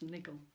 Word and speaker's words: Nigel: his own right with good dog nigel which i pronounce niggle she has an aubry